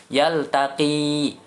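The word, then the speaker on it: يلتقي: Yang pertama adalah yaltaqi, panjangkan. Nah, di situ ada huruf ya di belakang, ya.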